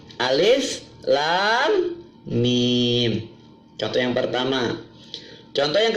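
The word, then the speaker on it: الم: boleh dibaca alamat hutan bacanya bukan alamat tapi alis Lam Mim chock yang pertama contoh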